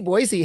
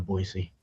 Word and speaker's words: Boise: Orange County Soccer Club players that uh AC Boise has uh like a a roster of some